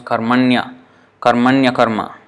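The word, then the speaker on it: karmaṇy akarma: So this will become karmanya karma, and this is how you have to pronounce it, as if it's one word. Although there are two words, pronounce it like one word.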